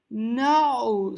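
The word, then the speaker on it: نوع: Ma na'u safinat lati rakibaha bulus. Que tipo? Manau. E aqui a palavra nau é um pouco difícil de pronunciar por causa do ain com o dhamma, mas é uma palavra muito usada.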